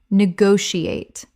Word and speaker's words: negotiate: Negotiate. 5 syllables with the stress on the second.